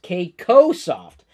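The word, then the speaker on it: KCO Soft: company cool in Australia called KC Oh soft pronounced Keiko soft we currently have eight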